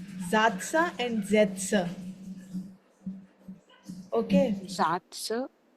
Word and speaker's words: Sätze: Zatsa and Zetsa. Okay. Satz. Zatsa is where there is no Sen. umlaut. When there is a umlaut, then it will be Zetsa.